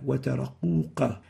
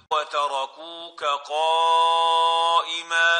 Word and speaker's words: وتركوك قائما: The next mistake is pronouncing the kaf as if it is a qaf. وَتَرَقُوكَ قَائِمًا وَتَرَقُوكَ. Instead of kuka, quka, wataraquqa. And this is wrong. They are two different letters and they shouldn't be exchanged with each other.